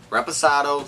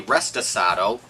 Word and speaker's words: reposado: Reposado stands for rested. And a lot of people mispronounce reposado. They say restasado. No, that is not correct.